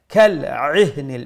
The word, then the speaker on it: كالعهن: বা এক আলিফ লম্বা كالعهن. Make sure you pronounce the ain from the middle of the throat so that it does not sound like the letter hamza.